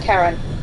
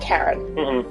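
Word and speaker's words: Charon: played hades before yeah c-h-c-h-a-r-o-n yes but pronounced karen metal and metal rich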